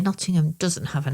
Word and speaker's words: Nottingham: say Nottingham, the term Nottingham, there's no such place as Nottingham. It's Nottingham. Nottingham. Say it properly.